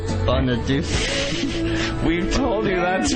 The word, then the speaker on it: Bonaduce: Bonaduce. We've told you that's wrong. His name is not Deuce or Douchey ever. Never say it again ever.